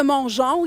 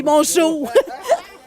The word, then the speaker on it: Mongeau: Je sais qu'il y a beaucoup de Mongeon ici, mais mon nom de famille, c'est Mongeau.